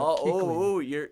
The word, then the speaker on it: Kuechly: And I was wondering how you pronounce his last name. Thank you very much for clearing that. Kuechly.